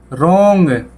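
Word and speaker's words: wrong: रोंग, W silent, रोंग, रोंग मतलब गलत।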